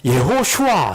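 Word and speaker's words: יְהוֹשֻׁעַ: 그러니까 여호수아도 우리 한글성의 여호수아지만 히브리어를 그대로 읽으면은 예호슈아 이렇게 돼요.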